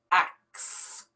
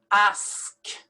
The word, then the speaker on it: ask: word pronounced different ways some people actually switch around these two letters the k and the s and they pronounce acts they say i want to ask you a question but that is totally wrong so we're going to pronounce it the right way ask the s is before the k and you have to pronounce it that way ask penguin penguin pseudonym